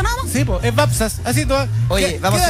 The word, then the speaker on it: Wapsas: La W se pronuncia como B corta. Babsas. Babsas. Babsas. Sí, por favor. Nos costó llevo decirlo. Toda mi vida ¿ya? Que me dicen Wapsas, sí.